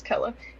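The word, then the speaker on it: Kele: Kella, which also would never think the way that that's spelled would be Kella, but it is Kella.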